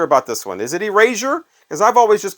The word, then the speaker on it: Erasure: just called them Erasure I asked somebody one time I'm like how do you say their name it's like oh it's Erasure I'm like really he's like yeah I'm sure of it Erasure that's I mean